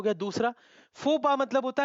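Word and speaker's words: faux pas: अब ये क्या लिखा है, डेजा वू, ये क्या है, फॉक्स पास, इसको हम लेटिन वर्ड में फोपा भी बोलते हैं, फॉक्स पास।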